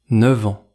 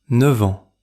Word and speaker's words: neuf ans: Dans l’expression neuf ans, le f de neuf se prononce comme v devant ans. Écoutez : neuf-v-ans. C’est un cas particulier très fréquent quand nous parlons de l’âge. Répétez : neuf ans.